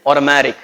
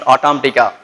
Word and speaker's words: automatic: This is you're supposed to pronounce like automatic. It is not automatica, right?